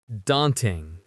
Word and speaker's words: daunting: It rhymes with haunting.